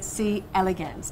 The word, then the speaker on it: C. elegans: Now, he studies these tiny transparent worms known as C. elegans. Did I pronounce that right?